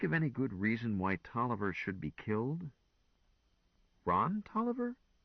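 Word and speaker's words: Taliaferro: But it's pronounced Toiver just the same.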